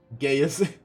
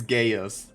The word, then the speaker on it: Gaius: Gaius. I spoke it as Gaius. I pronounce Gaius' name in English way too much on the I. So it sounds like Gaius.